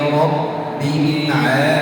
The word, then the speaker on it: رب: Alhamdulillahi Rabbil Alamin. Alhamdulillahi Rabbil Alamin. في كلمة رب لابد أن أشدد الباء فتأخذ وقتا أطول من غيره.